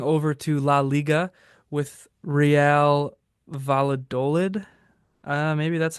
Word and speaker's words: Valladolid: Yeah, looking at it now, I would guess with the way they have double L's, Real Valladolid would be my pronunciation, but that's just Ah, me.